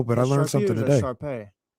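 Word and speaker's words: Shar Pei: There's only one Sharpie I know, but I learned something today. Sharpay. I said it wrong. I said Sharpie, like the pen.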